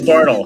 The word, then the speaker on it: Bartel: how it's spelled, but it is Bartel. I grew up with a kid who his last name was spelled like yours, and his last name was Bartel. So I had a 50-50 it sounds shot.